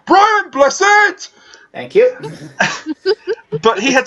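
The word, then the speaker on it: Brian Blessed: be played by yeah Brian busted no you said his name wrong you got a year so I he was whispers be played by Brian blizzard thank you but he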